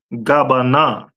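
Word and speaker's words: גבינה: Cheese is pronounced in Hebrew as gabana.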